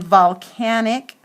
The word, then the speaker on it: volcanic: didn't even show you sorry okay and then volcanic goes to short V Oh L see a